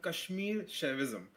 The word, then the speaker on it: Kashmir Shaivism: So how is this pronounced your your branch of religion here? Yeah, it's called Kashmir Chavism.